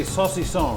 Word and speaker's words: saucisson: Okay, everybody say saucisson, right?